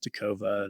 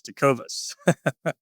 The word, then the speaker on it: Tecovas: guess what people do people call it takova that's really annoying it's always got an S it's Tas well maybe nobody's ever